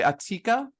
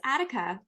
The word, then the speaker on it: Attica: So coming to us live from Vancouver, do I pronounce it properly? Atika? Yeah, it's Attica.